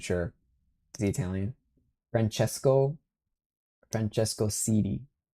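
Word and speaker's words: Siddi: The C is pronounced like a chi. Okay, I wasn't sure. Is he Italian? Francesco Cidi.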